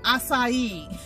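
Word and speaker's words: açaí: whatever but it always mixes yep it's actually pronounced acai so I found these in the Dollar Tree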